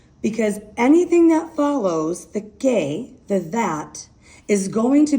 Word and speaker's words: que: No accent over the E, Q-U-E, pronounced que, which means that.